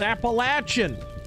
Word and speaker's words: Appalachian: Every time I say Appalachian, people are like, "It's Appalachin."